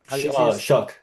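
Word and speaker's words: Shough: Shook.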